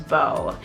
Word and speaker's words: Beau: model on there, and her name was Bo, and she had spelled it B-E-A-U.